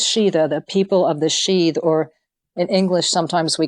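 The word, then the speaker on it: síd: was referred to as the realm of the sheath and that's spelled s i with an accent d sheath and the pagan gods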